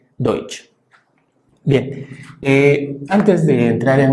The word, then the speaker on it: Deutsch: Alemán, que por cierto, en el propio idioma alemán se escribe así y esto se pronuncia Deutsch. Repito, se pronuncia Deutsch, así es como se